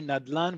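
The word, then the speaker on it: נדלן: We only say nadlan, we do not say its full um non-abbreviated form which you see here on the right-hand side in column E which is nichsei d'la naydei.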